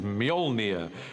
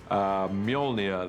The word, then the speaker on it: Mjolnir: The first challenge with the hammer is to work out how to pronounce it, which is Mjolnir in our movie at the moment. Until somebody corrects me, I'm sure they will. Mjolnir, the hammer, this awesome weapon for Thor.